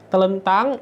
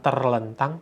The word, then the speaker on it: telentang: Telentang ini secara ejaan sudah tepat, sudah benar. Telentang gitu ya. Bukan terlentang tapi telentang.